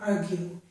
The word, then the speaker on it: argue: An exception to this is the word argue. In this word we do hear the U sound, argue.